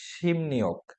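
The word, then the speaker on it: 십육: মানে 16 কুয়া অধ্যায় কিন্তু শিব ইয়োগ এটা উচ্চারণটা হবে শিম নিয়োগ যেমন আমরা একটু দেখে আসার চেষ্টা করি খেয়াল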